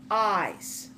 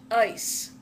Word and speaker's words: ice: do not pronounce it eyes if you say eyes it will sound like this word eyes which means your eyes when you're pronouncing the